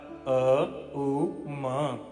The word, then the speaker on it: ओम: हरि भक्तों ओम नहीं तीन अक्षरा मंत्र अर्थात अकार उकार मकार अ उ म शुद्ध उच्चारण करें इसके पश्चात अब